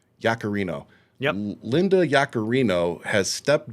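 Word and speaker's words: Yaccarino: What's Do you know how to pronounce this woman's name? Uh, Yakarino. Yakarino.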